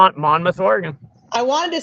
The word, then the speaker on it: Monmouth: Monmouth, Oregon. I wanted to say Monmouth because that's how it's spelled, but I felt like that wasn't correct.